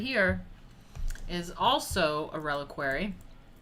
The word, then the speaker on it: reliquary: i figured out how to say it the reliquary it's a reliquary arm of saint valentine so